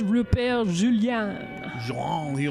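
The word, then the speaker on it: Rupert Julian: That's actually pronounced Rupert Julien.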